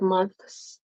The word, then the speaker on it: months: pronounce every sound like months but I really think we just say months like it's almost like the te kind of disappears um when I listen